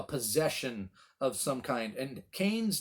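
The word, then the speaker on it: Qayin: his name is kane now in the hebrew it is not spelled c-a-i-n it is spelled with a q q-a-y-n is a best transliteration uh kane something like that and it's a play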